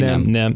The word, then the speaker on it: NEM: Am I saying it right? NEM. Yeah, just say NEM.